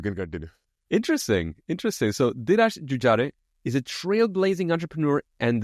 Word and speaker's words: Jujare: Dhiraj Jujare, is that a good pronunciation or a decent one at least? It's a decent one. It's called Jujare because we pronounce our E's as A generally.